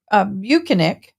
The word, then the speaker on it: Bukhenik: But Sergeant Bukhenik, which is the way he pronounces, I'm just from here going to call